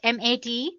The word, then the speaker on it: MATE: the mate desktop environment let me pronounce it m80 you can call it whatever you want mate or mate desktop